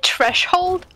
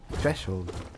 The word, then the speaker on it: threshold: eternal kingdom hallo nest did you say treshold yeah threshold it's threshold sure as one foreigner to another you're saying it wrong i don't i don't